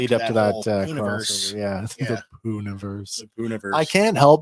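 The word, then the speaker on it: Poohniverse: The Poonaverse. The Poonaverse. I can't help but think of like a like the poo emoji every time I hear that. Yeah. I know it's spelled like the bear, but it's just yeah.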